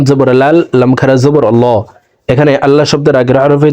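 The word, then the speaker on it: الله: মধ্যে মুত্তাসিল চার আলিফটা নিয়া পরিতয় হয় আশহাদু আললা হামজা হজই লাম জবর লা হা জবর হা ইলাহা আশহাদু আল্লা ইলাহা হামজা লাম জের ইল লাম লাম জবর লাল লাম খারা জবর আল্লাহ এখানে আল্লাহ শব্দের আগের হরফে জবর আছে।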